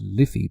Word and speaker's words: Life: is called only and it's spelt l-i-f-e it's pronounced liffy but it's spelt l-i-f-e